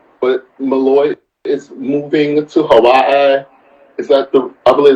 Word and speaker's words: Hawaii: Malloy is moving to Hawaii is that the I believe that's the right way to say it Hawaii it is actually and um I've been told that the W in Hawaii is pronounced V I could be wrong